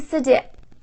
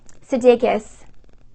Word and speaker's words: Sudeikis: Olivia Wilde and Jason Sudeikis, I always say his name wrong, Sudeikis, are officially, now this has been like maybe not, but it's now official, you guys.